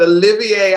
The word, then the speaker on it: Olivier: You know, I asked somebody earlier, I'm like, how do you think he pronounces his name? I don't want to mess it up. And so I was so excited. I went online and I listened to another interview, and the lady said, Olivier.